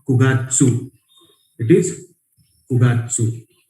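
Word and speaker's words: 九月: यहाँ पे भी क्यू प्रोनाउंसिएशन नहीं है, करके अलग कलर में आपको जस्ट हाईलाइट करके दिया हुआ है, क्यूगात्सु. इट्स नॉट क्यूगात्सु, इट इज कुगात्सु.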